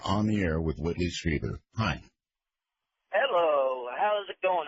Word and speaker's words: Strieber: Strieber. Whitley Strieber. Look, I really need to talk to him if he can't even pronounce my name. I'm sorry. Well, try it. Say Strieber, and I'll answer.